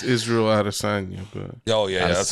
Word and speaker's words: Israel Adesanya: But it's Israel Adesanya, but yeah, that's how you say his name.